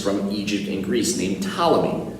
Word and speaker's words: Ptolemy: This was also made popular by a famous scientist from Egypt and Greece named Ptolemy. That's right, the P is silent. Ptolemy was considered one of